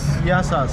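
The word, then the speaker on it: Γεια σας: Yes, Yasas. Yasas?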